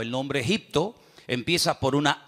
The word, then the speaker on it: Egipto: Entonces él toma al niño, toma a la madre y se van al extranjero, concretamente al país de Egipto, que en la Biblia se pronuncia Mitzraim.